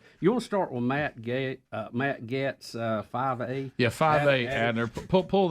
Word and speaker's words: Getz: You want to start with Matt Getz, 5A? Yeah, 5A, Adler. Pull that one up. And did we ever learn how to say his last name? It's Getz. Is it Getz?